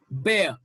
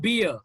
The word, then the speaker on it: bear: okay pie bye pear bear yeah this is not beer okay we mispronounce it this is not beer it's bear pill bill bad neat